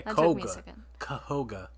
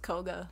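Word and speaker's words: Kohga: uh master koga yeah kahoga kahoga kahoga sure it's just koga but you know whatever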